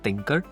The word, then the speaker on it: Thinkrr: He has developed this tool called Thinker. It's spelled as THINKRR.ai is the domain name.